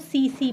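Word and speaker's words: tsetse: okay, तो ये जब किसी ग्लॉसिना पैलिस या सीसी फ्लाई में, इसका टीएसी इसको सीसी प्रोनाउंसिएट करते हैं, ट्रिपैनोसोमा इसमें इन्फेक्ट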